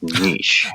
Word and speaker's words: niche: Now, that's a word that does have two acceptable pronunciations. Niche or nish.